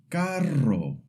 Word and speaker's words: carro: And the double R always makes the rolled sound like in pero which means dog or carro which means car.